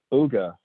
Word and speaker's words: Ooga: with the folks at, is it Ooga or Ooga, or what's our pronunciation there? Ooga. Okay, long O, okay.